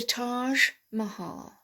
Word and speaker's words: Taj Mahal: also makes lovely mustard dijon mustard and the taj mahal taj mahal all right so all borrowed words